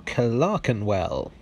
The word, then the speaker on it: Clerkenwell: travels take me to clarkenwell for those of you unfamiliar clarkenwell or clark and well as i pronounced it just then for some reason lies just outside the